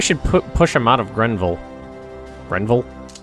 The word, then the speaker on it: Grenville: Maybe we should push him out of Grenville. Grenville? Is that I'm pronouncing green? I almost said Greenville. That's not right.